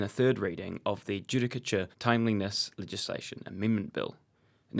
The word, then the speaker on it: judicature: If one Googles the word judicature and pronounces it properly, Judicature.